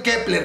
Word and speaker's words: Kep1er: función tiene el uno ahí porque se sigue pronunciando quebrar la justificación de que se llamen kepler con ese uno ya la vimos es porque